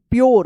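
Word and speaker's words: pure: में तो च पढ़ेंगे पी यू आर ई प्योर देखिए प्योर पढ़ेंगे इसको इसको प्योर प्योर इसको भी याद रखिएगा। ठीक है ना? प्योर पूरे में नहीं पढ़िएगा।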